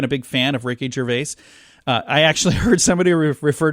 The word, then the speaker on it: Gervais: big fan of Ricky Gervais I actually heard somebody refer to him they said like I never know how to say his name so I just remember it rhymes with jerkface Ricky jerkface that's one